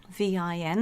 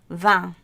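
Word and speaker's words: vingt: And then 20 is very alcoholic because you get vin, V-I-N, the word for wine, with G and T on the end, vin. As you know, in England, things are pronounced very differently. Sometimes you have the word path or path. And that T is pronounced all the way through the 20s in some parts of France. But in, I think the purer form is vin for 20.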